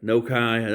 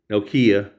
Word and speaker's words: Nokia: So this is a Nokia Nokai. I think people pronounced it different ways. Nokia, that's what we say.